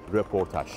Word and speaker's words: röportaj: Dikkat edin, Fransızcadan dilimize giren bu kelimenin hem yazılışı hem okunuşu röportaj.